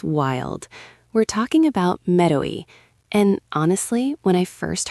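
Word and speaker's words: メロい: It's Mero-i, M-E-R-O-I. 3 syllables, and it sounds kind of playful, right? That's intentional.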